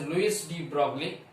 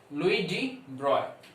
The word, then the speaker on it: Louis de Broglie: One French scientist, he's a French scientist, and in India you call it as Louis de Broglie, but the actual French pronunciation of this guy is Louis de Broglie.